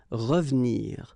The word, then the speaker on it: revenir: So you've got re and then ve and nir, but then clearly you don't pronounce it, so you get revenir, revenir.